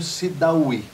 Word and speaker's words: Sidaoui: É Rogério Sidawy, é isso? Isso. Desta forma que você pronuncia? Dessa forma mesmo.